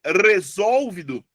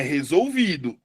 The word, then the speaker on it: resolvido: E aí você fica, é resolvido, resolvido, é resolvedor, é resólvido ou é resolvido? É resolvido. A sílaba mais forte é o vi.